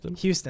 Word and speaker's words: Houston: Houston.